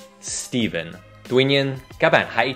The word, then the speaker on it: Stephen: Chúng được đọc là V, chứ không phải F. Steven. Steven.